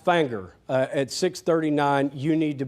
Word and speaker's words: Finger: I know it's spelled finger, but it is pronounced Fanger.